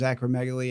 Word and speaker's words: acromegaly: and you're going to have to help me pronounce acromegaly.